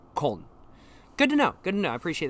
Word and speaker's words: Köln: Munich would be München, and Cologne would be Köln. Okay, cool. Makes sense. So Munich is München, and Cologne is Köln.